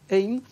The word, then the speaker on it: Ain: Ain, c'est très dur à prononcer, Dr. Ain, I-N, enfin comme Cain, censé, c'est Dr. Charles Ain, donc c'est Ain.